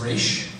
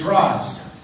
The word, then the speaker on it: Ra's: Because Nissa, in the most recent episode, says Raish. But it has been established prior to me getting to say it by people that exist in Starling City that it's Ra's.